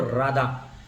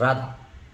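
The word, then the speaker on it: רָדָה: The word dominion is taken from the Hebrew word राधा, RADAH, राधा, है ना, उसमें H silent होता है।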